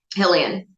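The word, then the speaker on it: Xahean: So Ensign Kemi, she's also I'm gonna get the we said a Halilean. How do you pronounce Hillian. that? Hillian.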